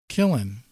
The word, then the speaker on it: Killen: one of those one of those like kil - le ends you know the kind of phonetically because I I've gotten